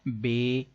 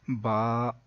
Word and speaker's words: ب: بتا رہے ہیں کہ حروف مفردات کو تجوید و قرات کے مطابق عربی لہجے میں ادا کریں، اردو تلفظ سے پرہیز کریں یعنی کہ بے، تے، سے، ہے، خے، توئے، زوئے وغیرہ ہرگز ہرگز نہ پڑھیں بلکہ با، تا، سا، حا، خو، تو، زو پڑھیں.